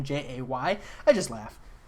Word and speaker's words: Jae: Diane Nelson is pronounced just exactly like J. It's just J-A-E instead.